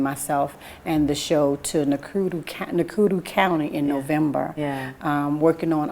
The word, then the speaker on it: Nakuru: The deputy from Nakuru County, did I say it right?